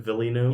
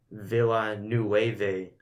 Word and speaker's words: Villeneuve: Villeneuve. You guys watch Lights, Camera, Jackson? What? No. Lights, Camera, Jackson. No, I watched LazyTown. Oh, it's a good show. He pronounced it Denis Villeneuve.